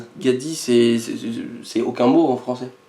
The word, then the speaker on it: 가디: Donc le nom du Pokémon se prononce Gadi.